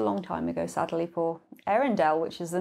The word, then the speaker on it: Earendel: So it's spelled E-A-R. So it kind of sounds like Arendelle in terms of the Frozen.